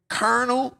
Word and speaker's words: colonel: has to be I don't even how I spell that it has to be Colonel bro why does it even start with a